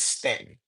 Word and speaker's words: Staunton: If you look up the city, the name, it looks like you it's Staunton, but it's pronounced, but folks that live there say it's Stanton.